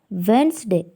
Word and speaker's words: Wednesday: is silent letter seven Wednesday D is silent letter now let's know about